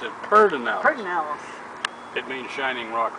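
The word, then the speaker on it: Pedernales: it's spell p e d e r we pronounced it perinel pel it means Shining Rock River it was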